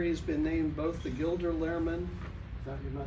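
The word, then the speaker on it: Gilder Lehrman: Not only does he teach history at Riverbluff High School, but in the past year, he's been named both the Gilder Lairman Am I pronouncing that right?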